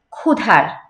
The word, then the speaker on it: ক্ষুধার: মানুষের জ্ঞাতি, পূজারি, দুয়ার খোলো, ক্ষুধার, এই যে এখানে আছে ক্ষুধার, ক্ষিয়র যে উচ্চারণটা, সেটা একটু জোর দিয়ে হবে, ক্ষুধার, ক্ষুধার, ধ, এই যে